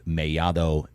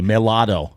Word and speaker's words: Mellado: How's that pronunciation? That's pretty good. That's perfect. That's perfect. You see what I'm saying here? Like the normal gringo is going to say Mellado. Yes. Right? They look at 2 L's and say Mellado, but not me.